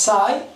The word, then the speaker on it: psi: those wave functions are denoted as sigh okay the spelling is psi licinus curves which are